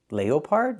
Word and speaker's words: leopard: Put the stress on the first syllable.